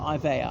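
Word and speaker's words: Iveagh: the earl of ivy it's pronounced ivy or ivaya i'm not sure spell ivea gh one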